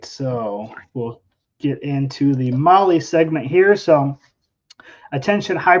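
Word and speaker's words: MAHLE: And for all of our podcast listeners, Molly is spelled M-A-H-L-E.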